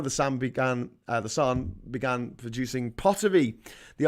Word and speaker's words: San: the son of batwan Sam but it's pronounced son apparently to hard a uh